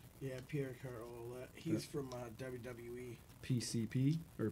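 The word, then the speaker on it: Pierre Carl Ouellet: Jack Verville, Mysterious Movado, Suplex Shogun, Jackson Stone, Pierre Carl, how do you say it, Olette? Yeah, Pierre Carl Olette.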